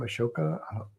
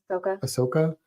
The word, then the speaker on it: Ahsoka: Ahsoka. Ahsoka.